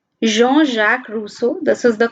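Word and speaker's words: Jean-Jacques Rousseau: philosophers that are mentioned in the book G Jean Jacques Russo this is the correct pronunciation Jean-Jacques Russo then John Locke and Montesquieu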